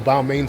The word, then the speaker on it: Balmain: So there is a Balmain store, but if you know, or Balmain, some pronounce it, but if you know about the